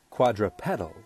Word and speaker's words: quadrupedal: different by the way the robot voice suggests quadrupedal is the correct way to pronounce that word so for thirty-one main